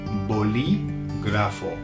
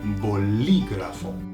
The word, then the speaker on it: bolígrafo: Pen, to write things, is bolígrafo, bolígrafo. Can you hear you say it? Be careful with the pronunciation. There's an accent on the I, bolígrafo.